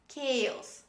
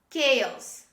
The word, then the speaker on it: chaos: say chaos this is not chalos this is kales kales say with me chaos the next word architect architect don't say architect